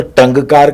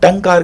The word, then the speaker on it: टंकार: जैसे हम बोलते हैं टंकार, टंकार, तो ना तो टंगकार का, ना मैंने टमकार कहा, टंकार का।